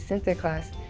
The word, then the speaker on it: Sinterklaas: The pronunciation of Saint Nicholas in Dutch is Sinterklaas, which is where the name Santa Claus came from.